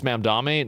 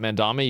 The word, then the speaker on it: Mamdani: It's Mamdani, not Mandami, you cunt.